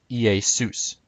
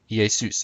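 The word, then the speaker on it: Ἰησοῦς: so in biblical Greek Jesus would have been pronounced EI sous EA suits again the accent is on sous Zeus would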